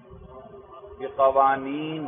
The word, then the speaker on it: بقوانين: علم منطق کی تعریف المنطق هو علم المنطق هو علم المنطق هو علم بقوانین بقوانین بھئی یہ نون پر زبر ہے زبر.